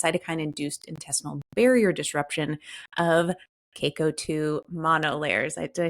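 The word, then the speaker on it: Caco-2: its protection against cytokine-induced intestinal barrier disruption of CACO2 monolayers.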